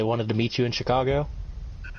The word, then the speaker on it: Chicago: Because they wanted to meet you in Chicago? No, they pronounced it Chic-ah-go.